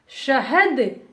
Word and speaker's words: शहद: शहद, शहद, बड़ा स is there, so we will not pronounce sa. We have to say sh. शहद, शहद means honey.